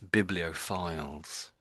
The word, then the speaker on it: bibliophiles: So biblio and then files. That's it. Yes. Biblio files.